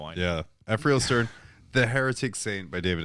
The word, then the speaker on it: Ephrael Stern: Because in my head, it's Arafel, but I don't know why. It's not pronounced that way. There's no reason I put an extra R in there.